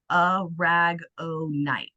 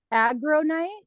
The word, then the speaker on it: Aragonite: And it's kind of a tomato, you know, kind of thing, but it is a ragonite. Almost like a rag o night.